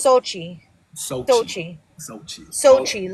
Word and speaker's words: Xochi: It's So, it's Sochi. So, Sochi Sochi Sochi like Sochi. Yeah. So, like Sochi Russia is the easiest way.